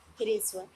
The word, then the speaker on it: ह्रस्व: इसलिए जो इसका उच्चारण किया जाएगा वो ह्रस्व किया जाएगा, ना कि हारस्व। कुछ लोग इसका उच्चारण गलत करते हैं, तो आप इसका ध्यान रखिए।